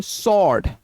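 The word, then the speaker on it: sword: नहीं इसके अंदर जो होगा डब्ल्यू जो होगा इसके अंदर साइलेंट होगा। तो हम लोग क्या पढ़ेंगे? स्वर्ड। क्या पढ़ेंगे? स्वर्ड।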